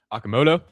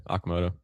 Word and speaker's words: Okamoto: Okamoto. Aamoto. Yeah, I was going to completely butcher that. Yeah, Okamoto.